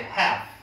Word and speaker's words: half: 여기 L 있죠? 네. L 발음 안 나요. Help. 자, half예요. Help. 자, 다시 half.